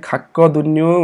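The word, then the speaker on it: 갔거든요: र यसको उच्चारण चाहिँ फेरि खाक्कदुन्यु भन्नुपर्छ है, क साउन्ड आउँछ यसको पनि है।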